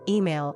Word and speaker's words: email: This one can be tricky because of the E sound, I, and the L sound, L, at the end. Some learners say it too quickly, and the second syllable disappears.